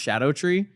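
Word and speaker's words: Scadutree: like it's called scattered tree but it's apparently pronounced Shadow tree okay and I love it cuz you have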